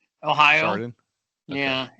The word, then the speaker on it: Chardon: Actually, the other day I went online to see how you pronounce it because I was embarrassed and I'm still not sure. I think it's Chardon, Ohio. Chardon.